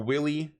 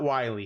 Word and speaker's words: Willy: to this speech while willy not wiley because i know some of you guys got a little mad at me for pronouncing his his name wrong if willy and mageth